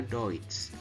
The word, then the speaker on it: Deutsch: Kemudian eu ya, eu bacanya adalah oi. Seperti dalam kata Deutsch ya, tulisannya Deutsch tapi bacanya Deutsch.